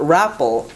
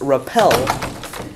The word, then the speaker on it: repel: double the last letter so a word like repel where it's not raffle it's repel which is why repelled